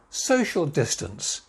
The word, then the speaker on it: social distance: Social distance. Social distance. 4 syllables again. Social distance. So, the main stress there, social distance.